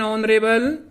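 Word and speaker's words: honorable: तो यहां आपने देखा होगा कि एच वर्ड है, एच जो लेटर है वो सब में साइलेंट है और ये साउंड है वो एच की नहीं आ रही और ए की आवाज आ रही है।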